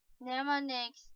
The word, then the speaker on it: mnemonics: Mnemonics, the initial N is silent, are clues of any